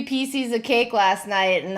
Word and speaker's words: Pieces: Reese'S Pee-SEES. You tell me what a PC is, and then we can talk.